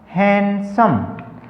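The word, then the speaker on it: handsome: उच्चारण करना, डी का उच्चारण नहीं करना, उसको साइलेंट रखना है। कैसे? देखिए यहाँ पर वर्ड है हमारा हैंडसम, लिखते हैं हम डी लेकिन बोलते वक्त डी है वो साइलेंट रहता।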